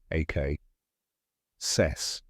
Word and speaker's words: accessory: down step by step start with the short a sound like in the word cat followed by a crisp K say it with me AK cess this is the stressed